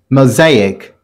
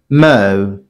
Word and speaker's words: mosaic: This word is pronounced mosaic. Mosaic. Mo-zaic.